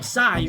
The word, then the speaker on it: psi: 23esima lettera dell'alfabeto greco, per gli anglofoni pronunciata proprio Sai, ovvero l'acronimo di Skeld